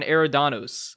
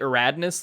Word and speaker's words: Eridanos: In terms of what I've been playing, something I mispronounced, The Murder on Eridanos, Outer Worlds DLC. I think I pronounced it Eradnus last week, and that's because I